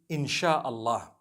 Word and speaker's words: InshaAllah: So they can write it how they want for as long as when people read it, they read it inshallah because a transliteration means nothing.